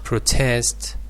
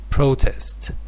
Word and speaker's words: protest: about something remember that protest with the stress on the second syllable is a verb and when it is used as a it is uh pronounced protest the stress shifts to the first syllable so this uh phenomenon